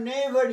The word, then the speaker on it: knavery: আর তারপরে দেখো এখানে KNAVERY, দেখো কেটা বন্ধ গেলে কি হয়? উচ্চারণ নেইভারি, তাই না?